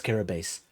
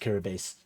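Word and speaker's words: Kiribati: That is Kiraabase. Um, Kiri Kiri, like you spell it Kiri Bati, but it's pronounced Kirabase.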